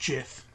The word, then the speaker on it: GIF: we know what GIF is short for, but the person who made it, The says person who made it otherwise.